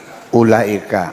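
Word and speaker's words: أولئك: Ulaika. Ulaika wawunya ada gunanya enggak? U laika gitu maksudnya apa? Ulah yang dibaca ada wwunya dibacanya pendek yang tidak ada alifnya dibaca panjang sebenarnya.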